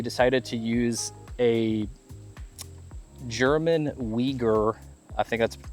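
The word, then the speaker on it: Wieger: engineering these, they decided to use a German Weaguer. I think that's how it's pronounced. Wigger. Viger. Viger.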